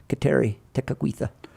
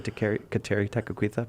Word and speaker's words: Kateri Tekakwitha: that they can't say Kateri Tekakwitha, but. It always sounds like I'm saying "take it with you" when I try to say her name.